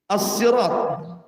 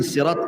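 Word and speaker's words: الصراط: yang pertama Hidayah ihdina asirat ada yang membacanya dengan Sin asirat ada yang mengatakan Shad asirat asalnya Sin Sirat kemudian orang Arab susah menyebutnya akhirnya jadi sad asalnya Sirat jadi Sirat gitu sad Do gimana itu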